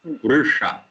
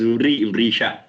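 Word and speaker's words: वृष: Va with vowel, R. Sha is Murdhanya, Vrusha. So maybe some people pronounce it as Vrisha.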